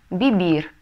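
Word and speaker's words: vivir: Так как все глаголы в испанском заканчиваются на букву «эре», то инфинитив мы всегда будем читать с ударением на последний слог. Ну, например, «трабахар» – «работать». Comer – есть, бибир – жить.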